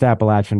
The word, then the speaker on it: Appalachian: postto at Penn State and the job at appalachin came up and it's pronounced appalachin by the way so there we go yeah